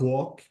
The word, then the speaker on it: walk: some examples we have walk notice the L before the last letter this is silent am I right yeah